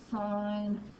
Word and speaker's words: sine: You may want to include in there that this one is pronounced sine, this one means cosine, this one means tangent.